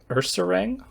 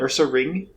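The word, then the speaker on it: Ursaring: all right what did you call him ursarang isn't it Ursa ring oh God is it probably he's got a ring on him yeah that would make more sense it's probably something I've been pronouncing wrong for 25 years yeah it's Ursa ring oh God editor cut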